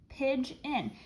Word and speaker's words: pigeon: And oh my goodness, this schwa sound is being spelled with E and O. That is pretty crazy. That's a vowel team, but it's working together to make a schwa sound. Pidge in. So you have to remember that I sound is being spelled with E-O.